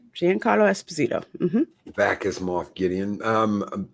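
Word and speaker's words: Giancarlo Esposito: Gian Carlo Esposito yes you said it right Gian Carlo Esposito back is Moth Gideon um Mr Miyagi the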